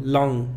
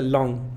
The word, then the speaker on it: long: Normalmente el sonido no incluye un sonido g, aunque puede haber una g en la palabra. O sea que no se pronuncia la g en este sonido, long, simplemente long, no digas long, nada más long.